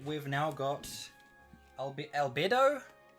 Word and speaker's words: Albedo: we've now got albe albedo i always pronounce it as alberto but there's no iron there so alberto the so